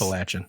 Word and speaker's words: Appalachian: Appalachian. What did I say? You get a lot of people that aren't from this area say Appalachian.